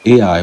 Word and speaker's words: Ai: And that name Ai is spelled Ai, which is pronounced as we have today Ai, which means heap of ruins.